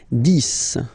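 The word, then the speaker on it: dix: 10, okay, so remember, final X here is pronounced like S, 10, 10, okay, then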